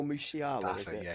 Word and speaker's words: Musiala: There's rumours of that Jamal, I can't pronounce his surname, Masala. Oh, Musiala, That's is it, it?